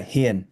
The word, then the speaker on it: Hien: Yeah, Hien, like Hien.